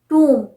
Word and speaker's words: tomb: इसी तरह से टूम, TOMB, this is pronounced as टूम, टूम, टूम्ब नहीं।